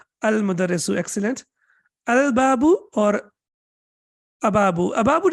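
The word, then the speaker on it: المدرس: Al-mudarrisu or am-mudarrisu? Al-mudarrisu, excellent. Al-babu or ababu? Ababu doesn't even make sense, right? It's difficult to pronounce it even.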